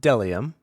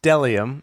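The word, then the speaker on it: bdellium: that uh it's pronounced delium oh the B is silent oh oh wait yes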